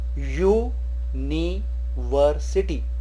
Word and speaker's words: university: University is pronounced as U-ni-ver-city. U. So when the U is pronounced as YOOU, then we use A.